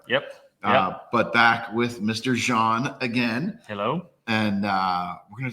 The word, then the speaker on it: Zan: Now, I make sure I say Jean because I think people shouldn't say Zan, even though you give everybody that pass here.